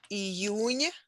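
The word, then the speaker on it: июнь: and symbolized abundant nature e union is june in russian is pronounced with soft n at the end named after the ancient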